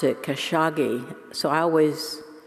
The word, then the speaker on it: Khashoggi: have all that money i didn't know they pronounced it khashoggi so i always pronounce it as cash hog um anyway and i think that really fits